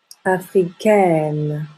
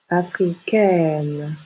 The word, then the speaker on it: africaine: est plutôt fermée donc au féminin on ajoute un E et on ouvre la bouche africaine africaine je suis américain je